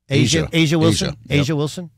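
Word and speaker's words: A'ja Wilson: And the other part that's really interesting is, how do you say, Aja Wilson? Asia Wilson.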